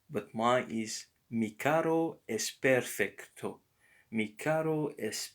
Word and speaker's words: carro: Notice here there are double R, and you don't have to say carro, carro, but carro. Mi carro es perfecto.